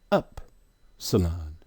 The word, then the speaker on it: Upsilon: Upsilon. How is it pronounced? But in the phonetic pronunciation, when you go to look it up, they're going to tell you it's E, as in B.